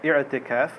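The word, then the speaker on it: I'tikaf: Again, the way we say it, the pronunciation, many brothers do it incorrectly. There's ayn there, so we say Itikaf.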